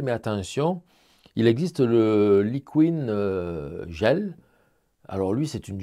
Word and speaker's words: Liquin: j'utilise assez souvent c'est le Liquin le Liquin ou Liquin les Anglais disent Liquin bon ça s'écrit l i Q u i n de Winsor Newton alors